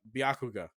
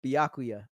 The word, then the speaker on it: Byakuya: voice better like uh bakuga bakuga that is not his name uh byakuya byakuya there you go that took a lot out to make sure I said said it right and that's one I